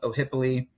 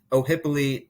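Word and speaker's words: Ohiopyle: once you hit the town of o'hippoly that's how you pronounce it oh hippoly that's when you start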